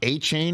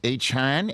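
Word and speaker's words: Achane: It's not A-Chain, it's A-Chan.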